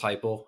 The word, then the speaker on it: Heuple: It's just a play on my last name. My last name's Heuple. And I was like, no one will ever say it wrong now again when they see the guide service.